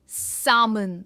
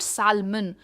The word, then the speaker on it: salmon: सामन एंड नॉट सालमन.